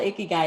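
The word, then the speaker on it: ikigai: i'm proud of you you did pronounce it right it's called icky guy absolutely and um that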